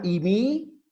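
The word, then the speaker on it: εἰμί: Termina imi y no tiene desinencia, fíjate. Tienes que memorizar toda la palabra. Imi, i, o ei, como se escribe, pero se pronuncia i, estin.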